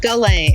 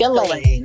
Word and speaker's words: Ghislaine: to talk about Ghislaine, but this S is silent. Ghislaine. It's Ghislaine.